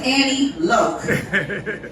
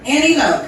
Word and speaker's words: Annie Loke: My name is Annie Loke. Annie Loke.